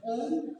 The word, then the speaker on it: ओम: सबसे पहले करना है आपको आ का उच्चारण पूरा मुंह खोलते हुए। आ, उसका वाइब्रेशन, एक एक वाइब्रेशन को फील करते हुए करना है। पहले आकार, फिर ऊ और म में आपका मुंह ऐसा बंद रहेगा, इस तरह आकार, ऊकार, मकार।